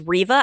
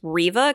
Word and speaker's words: Reva: that new inquisitor who i think you pronounce the name as reeva i don't think it's reva i think it's riva because i heard an